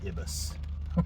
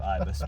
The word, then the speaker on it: ibis: ever made I said ibus instead of Ibis and I said ibus because I tried to make it rhyme with Adidas did the fan base